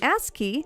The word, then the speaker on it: ASCII: The Japanese company ASCII, see, I pronounced it correctly this time, guys, even created this really cool GameCube controller keyboard.